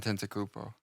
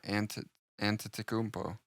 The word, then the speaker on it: Antetokounmpo: And Tentacupo. It's not bad. You knew that. I can see it. I'm reading it. There's not an N before the T, though, or the second T. No, Antetokounmpo.